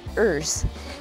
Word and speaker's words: URS: gravel bike it's a bmc erz urs pronounced ers i've never had a